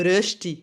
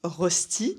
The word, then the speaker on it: Rösti: Comme deuxième exemple, on a ça, le rösti. Röstikrape. Rösti, et non pas rosti, comme vous, mes amis français, vous aimez le prononcer.